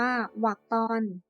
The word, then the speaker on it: วรรคตอน: อ่าน ตัว อย่าง เช่น วรค ตอน อ่าน ว่า วัก ตอน ย ิ พัง อ่าน